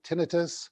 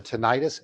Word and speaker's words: tinnitus: such as topics like tinnitus or tinnitus and i was just informed that those are both correct pronunciations and working with transgender